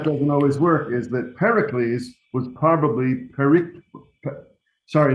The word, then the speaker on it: Pericles: all these greek names the rule is you put the accent on the third to last syllable however the reason that doesn't always work is that pericles was probably sorry not